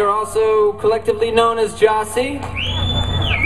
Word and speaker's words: Gyasi: We are also collectively known as Gyasi. It's spelled G-Y-A-S-I.